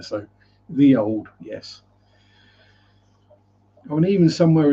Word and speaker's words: ye olde: So them ye olde place names. As the ye olde, or the old, as it's actually pronounced, is the ye was actually originally a thorn, which is pronounced th.